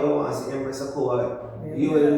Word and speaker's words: Akua: Empress Akua. That's how it's pronounced. Empress Akua. My mother named me, and I wish she would have named me Sila. So it's not Akua. Akua. It's pronounced Akua, but everybody says Akua.